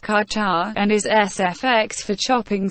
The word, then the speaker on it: ka ca: Ka-ca, pronounced ka-cha, and is SFX for chopping sound.